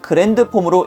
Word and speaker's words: Grand Form: 그라운드 폼이라고는 적혀 있지만 읽기로는 그랜드 폼으로 읽습니다. 이게 반다이 측과의 혼동으로 인해 그랜드인지 그라운드인지 굉장히 혼동이 많이 됐었지만 일단은 그랜드라고 확정을 지었기 때문에 그라운드라고 쓰고 그랜드라고 읽는다는 점 참고하시길 바랍니다.